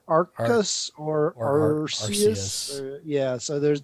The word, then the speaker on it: Arceus: to read it's it's there's a big debate on how it's supposed to be pronounced actually um uh arceus a-r-c-e-u-s and so it's not sure if it's if it's arceus or arcus or or yeah so